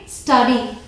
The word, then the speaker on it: study: Next is STUDY, इसे pronounce करेंगे स्टडी, स्टडी, okay, स्टडी।